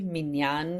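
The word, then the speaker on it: minyan: A minion is um we spell it like this usually. minan is the is a really Hebraic way to pronounce it and that means um yeah um thanks Koko.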